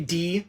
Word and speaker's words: Die: Then we're seeing, I think it's supposed to be D, is how you pronounce it, D Ewoks, but gotta